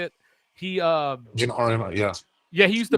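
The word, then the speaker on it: Geno Auriemma: Gino Ariyama, is that how you say it? Gino Ariyama, yeah.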